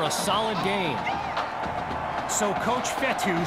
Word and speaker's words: Fetu: So Coach Fetu, spelled F-E-T-U, for the longest time I was pronouncing it Coach Feta, like feta cheese, so let's just say I'm